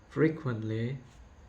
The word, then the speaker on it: frequently: The next misstressed word is frequently. It should be pronounced frequently.